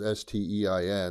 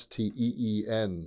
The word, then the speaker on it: Springsteen: I thought it was Stein. I thought he was, Jewish or something. But he's not. It's Bruce. It's Steen.